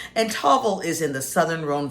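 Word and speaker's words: Tavel: I like to get my rosé from a place called Tavvel and that is spelled T A V E L and Tovel is in the southern Ron Valley.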